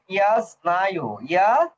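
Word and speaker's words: я знаю: এটার উচ্চারণ ইয়াস নাইউ, ইয়াস স্নায়ু।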